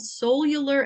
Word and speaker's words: Soul-U-Lar: title so it's called cellular Evolution a Mormon woman's Transcendent Journey To Love and it's spelled s-o-u-l hyphen U hyphen l-a-r cellular and that title came